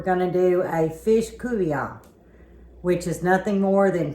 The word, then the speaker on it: Couvion: So a Couvion is nothing more than fish with a tomato gravy, and it's spelled Coubion.